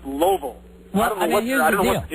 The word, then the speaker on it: Louisville: How do you pronounce the name for the largest city in the state of Kentucky? Louisville. Louisville. Absolutely though, right? But every person you meet from there will swear that you were wrong and it's pronounced Loville.